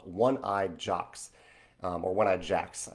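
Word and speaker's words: Jacques: Yes, Michelle, there is a fantastic game shop called One-Eyed Jocks, or One-Eyed Jacks. I think it's spelled Jocks, like the French version, but it's One-Eyed Jocks, One-Eyed Jacks in Richmond, Virginia.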